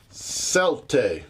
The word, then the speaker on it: Celtae: Today on Merry Meeples we are looking at a game called Celtae. That is how I have looked up and that is how it's been pronounced.